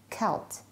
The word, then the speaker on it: Celt: One notable exception is the word Celt, pronounced as Celt, describing the Irish and Scots regions.